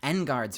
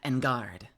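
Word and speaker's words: Engarde: But I feel like Engard makes more sense. I don't know. Matt Engard. Maybe that's just my, like, Japanese pronunciation speaking for me, where you always hit the first emphasis.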